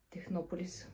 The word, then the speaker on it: Технополис: технополис и го взех на технополис всъщност мисля че е правилното ударение и също така си